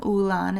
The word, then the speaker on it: Olann: O-L-A-N-N, Olann. It's pronounced Olann, like with a U.